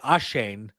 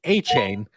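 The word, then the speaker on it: Achane: Oh, I was pronouncing it Ashane, which apparently it is A-Chain.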